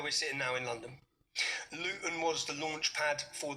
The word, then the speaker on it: Luton: We don't pronounce our T's.